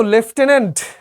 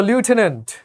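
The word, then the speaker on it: lieutenant: সো লেফটেনেন্ট কিংবা লিউটেনেন্ট দুইটা উচ্চারণই correct. কোনটাই ভুল না।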